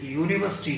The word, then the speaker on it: university: अब जैसे यूनिवर्सिटी है, यूनिवर्सिटी, UNIVERSITY, यूनिवर्सिटी।